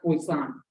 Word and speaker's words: Poisson: It looks like poison, but it's some French shit. It's pronounced Poisson. 6.3 is the Poisson distribution.